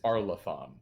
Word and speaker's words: Arlathan: No, they keep pronouncing it Arlathan. It's Arlathan.